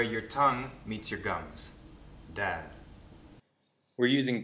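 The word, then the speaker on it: د: The pronunciation of a dal is very similar to an English D. Dal. Da. Da. It's the same thing. The point of articulation is behind the top row of the teeth, where your tongue meets your gums.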